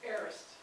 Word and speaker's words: aorist: And this one, that first word, A-O, is pronounced aorist.